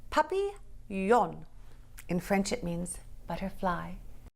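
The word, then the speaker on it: papillon: You say it like this. Puppy yon.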